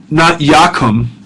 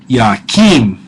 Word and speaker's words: yakim: Yeah, but it's not yakum, which you had in the call for kum, but it's yakim this time.